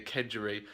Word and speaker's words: kedgeree: see in my latest video that making the kedgeree which is the correct way of pronouncing it I totally botched the name when